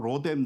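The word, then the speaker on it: רֹתֶם: 여러분, 로뎀이라는 단어를 히브리어 그대로 하면 로템입니다. 우리가 발음을 로뎀이라고 할 뿐인데요, 이 뜻을 찾으면 그냥 tree라고 나와요. 그냥 나무예요. 근데 또 이거를 예전에는 제가 설교하면서 로뎀의 뜻은 나무다, 그러므로 로뎀 나무 하는 것은 역전압과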